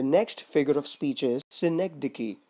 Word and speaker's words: synecdoche: How it is pronounced? Synecdoche. Once again, it is pronounced as synecdoche.